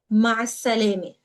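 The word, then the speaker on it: ma' is-salāmeh: Ma with the ayn, letter in Arabic. So ma and is-salami. And we pronounce it all together as one word, ma salami.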